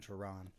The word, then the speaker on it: Cioran: I was watching last week's video and actually noticed I pronounced his name wrong and right several times, but kind of bouncing between Cioran and Cioran. I don't think he'd really care, but theoretically it's Cioran.